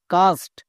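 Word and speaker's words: cast: যেহেতু এখানে এ আছে, এখানে যদি আমার ই আই ওয়াই থাকতো তাহলে কে হতো। ই আই ওয়াই নেই তাই সি হয়েছে। তাহলে এর উচ্চারণটা কি হলো সি এ এস টি, কাস্ট।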